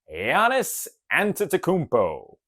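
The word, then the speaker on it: Giannis Antetokounmpo: Bonus points if you can pronounce his name correctly. The answer is Yiannis Antakmpo.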